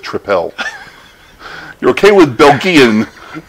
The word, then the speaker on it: Tripel: hey abelian strong ally bogey in triple that's pronounced triple you're okay with bulk Ian but you can